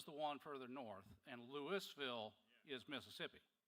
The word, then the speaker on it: Louisville: Lewisville, not Louisville. Okay. Oh, so, so, so Louisville is the one further north and Lewisville is Mississippi.